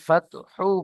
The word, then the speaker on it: الفتح: তাহলে ফাতহ, এখানে হা সাকিন হয়ে যাবে। আপনি এখানে হাকে পেশ করেছেন, সাকিন করেননি।